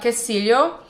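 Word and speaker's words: quesillo: It's called Casilio. Um spelled like queso, but u u e s i l l o.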